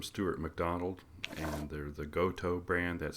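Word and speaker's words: Gotoh: The tuning machines that I bought for this guitar are from Steuart McDonald and they're the Goto brand. That's spelled G O T O H.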